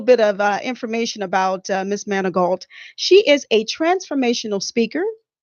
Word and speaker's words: Manigault: a few more moments, Monique Manigault. Did I pronounce it correctly? Perfecto. Oh, wonderful, Perfecto. wonderful. Let me give you a little bit of information about Miss Manigault.